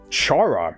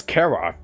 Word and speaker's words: Chara: we're starting up with Chara or I guess Cara well well the the um the undertale weaky page says that you can um present it either way but I usually I I uh I pronounce it Chara just because it um it sounds much more Sinister not to mention it's